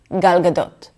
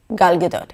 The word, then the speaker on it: Gal Gadot: There's a lot less jaw movement, everything is super chill and relaxed. Gal Gadot. Gal Gadot. It's kind of like we don't want you to read our lips when we speak.